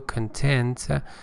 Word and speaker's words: content: Pay attention, the stress is on the second syllable, content, and satisfied to follow his brother's peregrination on a map.